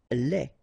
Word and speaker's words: lait: Lait. Un lait. Okay, so the only difference is the final thing here, they, you don't pronounce it, they, you don't pronounce it, so phonetically you only have this lait.